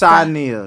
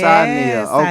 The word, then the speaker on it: Saaneah: Am I saying it wrong? Yeah, it's it's Saaneah. Yeah, Saaneah.